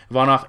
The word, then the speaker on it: Ivanov: For Ivanov, again, I have a tendency to put an extra syllable in there, which is incorrect. Ivanov had a 5-fight winning